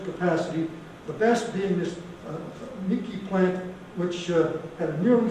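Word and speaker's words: Miike: And the 3 plants that they did construct, one was at a place called Mike, it's spelled M-I-I-K-E, so I think Miki is the pronunciation of that.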